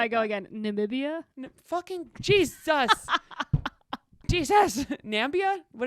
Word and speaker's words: Namibia: Namibia? Fucking Jesus. Jesus. Nambia? What did I say? You said Nambia. Is It's it Namibia?